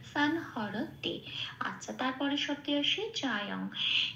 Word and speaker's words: সংহরতে: সেই জন্য সানকে আমরা বলবো সান। আচ্ছা, তারপরে হ যেমন আছে তেমন, র যেমন আছে তেমন, কোথাও কোনো হসন্ত নেই, পূর্ণরূপে এই দুটোকে উচ্চারণ করব হ র বলে। আর তেটাও যেমন আছে তেমন। তাহলে শব্দটা কি পেলাম? সান হর তে।